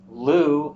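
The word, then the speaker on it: Lugh: festival associated with the godlu or Lou you'll see spelled l-u-g-h sometimes l-u-g um we think that's where the name comes from Lou in at least one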